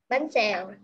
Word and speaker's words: bánh xèo: Bánh xèo.